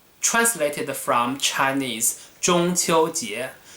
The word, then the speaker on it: 中秋节: will still call it 中秋节 in Mandarin. If you want to remember the pronunciation, 中 first tone, 秋 first tone, 节 second tone, 中秋节, which I'm going to